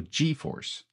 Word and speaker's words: GForce: I never know how to pronounce G or J in English because I'm a French Canadian. Oui, je suis de Montréal, Canadien français. So, G in French is G in English. So GeForce.